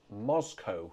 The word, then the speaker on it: Moscow: The tune is called Moscow. I don't know whether it's after the Russian capital, Moscow, or shall I say Moscow. That's how the Americans pronounce it. Don't know why.